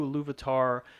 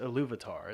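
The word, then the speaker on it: Ilúvatar: seeing the similarities between the concept of Eru, Iluvatar, and the God of the Bible?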